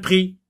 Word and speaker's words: prix: la lettre X attention X ne s'entend pas à la fin de certains mots exemple impr prix ou bien le mot